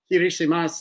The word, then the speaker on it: Kiritimati: So Kirishimas is Kiritimati is the way it's spelled out, with a K.